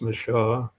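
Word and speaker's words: Michaux: Owned by an elderly and longtime nationalist, Louis Mich, sometimes pronounced Michaud.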